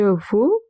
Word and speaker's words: veux: Je veux, I want. X at the end is silent. Tu veux, you want.